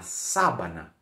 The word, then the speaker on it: sábana: assim ó na Savana la sabana é um pouquinho difícil né a sílaba tônica no comecinho vou explicar melhor pronúncia